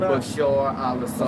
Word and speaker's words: Bashar al-Assad: Bashar al-Assad.